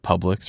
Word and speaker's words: Publix: But at the very least, give me some ideas of something I could buy, at like Publix or a grocery store or something like that.